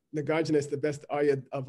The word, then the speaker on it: Nagarjuna: Lu is Naga. Drup, which means warrior here, is Arjuna, the famous warrior of the Bhagavad Gita. Okay. So Naga Arjuna. So we should pronounce it Nagarjuna. Okay. Nagarjuna.